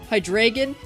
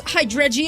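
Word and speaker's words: Hydreigon: important aspects of hydration hydragon I'm gonna have so many comments of 11 year olds telling me that I'm stupid for pronouncing it wrong I'm actually it's hydregion I had a job the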